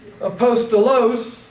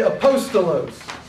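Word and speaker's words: ἀπόστολος: So look at the first word up here, apostolos. You don't say apostolos. You don't say apostolos. You don't say apostolos. You say apostolos. The emphasis is on the second syllable.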